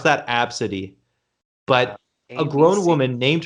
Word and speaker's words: Abcde: a b c d e and apparently you pronounce that absidy but a grown woman named her child abdce